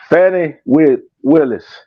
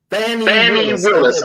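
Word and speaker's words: Fani Willis: Pronounce it again. Fannie Willis. Fannie Willis.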